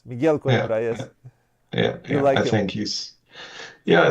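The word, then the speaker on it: Coimbra: pronounce him correctly but Miguel qura Miguel KRA yes Miguel KRA yeah I think he's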